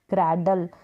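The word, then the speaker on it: cradle: Spellings देखें, CR क्र एब, क्रैब मीन्स केकड़ा, क्र CR को क्र ए डल, क्रैडल पालना, DLE को डल करके प्रोनाउंस करेंगे लास्ट में, जो ई है वो साइलेंट रहेगा।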